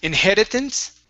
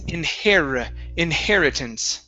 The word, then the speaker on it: inheritance: Instead of inheritance, it's inheritance. Inheritance. Okay, one more time. Give me a good R. Instead of inheritance, it's inheritance.